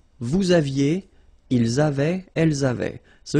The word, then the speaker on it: vous aviez: Vous aviez, same thing here, a little liaison.